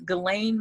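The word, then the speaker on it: Ghislaine: i just watched was glenn maxwell and that's her name that's how it's supposed to be pronounced even though yeah spell differently she one of the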